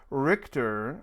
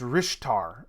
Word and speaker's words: Rishtar: do know that i would like richter or sorry it's rishtar i've been saying richter rishtar wow rishtar um so i i should actually pronounce that right um but rishtar um